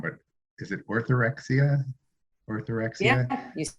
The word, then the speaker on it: orthorexia: I wanted to go back to, and I'm going to pronounce it wrong, but is it orthorexia?